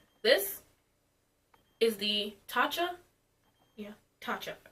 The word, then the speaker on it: Tatcha: Yeah, Tatcha. I pronounced it right this time.